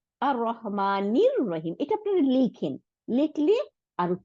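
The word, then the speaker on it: الرحمن الرحيم: জের জবর নাই, তাহলে নীল লাম উচ্চারণ করলাম না, হামজাতুল ওয়াসল উচ্চারণ করলাম না, কেন? কারণ শামসি ওয়ার্ড, রটাকে ডবল করে দিচ্ছে। তাহলে আর রহমানির রহিম, এটা আপনারা লিখেন, লিখলে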